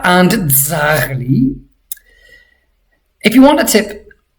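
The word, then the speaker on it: ძაღლი: Dzrocha and dzagli. If you want a tip, I sometimes imagine that I'm saying the word does. I want this z sound to really be pronounced.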